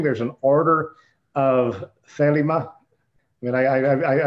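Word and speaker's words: Thelema: there's an order of felima i mean i i i'm still inclined to put the accent on the first uh for first syllable yeah we're very uh americanized pop culture pronunciation over here um yeah there there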